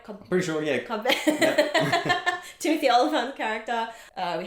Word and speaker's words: Cobb Vanth: Cobb Vanth.